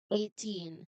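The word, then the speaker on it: eighteen: Now, as you can notice in the spelling, letter G and H is not or were not pronounced. So you can just take it as they are what we call silent letters. Again, silent letters. So you do not pronounce them at all.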